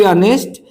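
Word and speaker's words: honest: सच कह तो वह नहीं आएगा टू बी ऑनेस्ट you will not come to बी ऑनेस्ट ही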